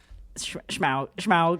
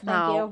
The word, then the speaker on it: Smaug: If you like Minoko's voice, you'll like Schmaug. Shrek. How do you I like pronounce Shrek. Smaug. Thank you. There's no It is- CH in it. There's no Schmaug.